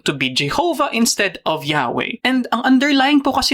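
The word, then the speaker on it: Yahweh: Kaya kung itutuloy po natin o na while inclining to view the pronunciation Yahwe as the more correct way we have retained the form Jehovah yun yung inclining to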